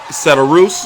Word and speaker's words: Cederroos: Cederroos is cornered and celebrating. That was a very fun fight. I hope that they don't rob Cederroos, is how you say her name, from Sweet.